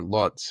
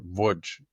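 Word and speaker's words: Łódź: of the town of Voj in Poland or Lots in it's pronounced lots in German or Voj in in Polish and my greatgrandfather his name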